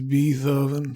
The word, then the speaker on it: Beethoven: Beethoven. I was a kid. You pronounce it wrong, baby. It's Beethoven.